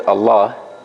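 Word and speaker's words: الله: and this one so when I read the word Allah I'm skipping over this lamb and I'm pronouncing this lamb if if I put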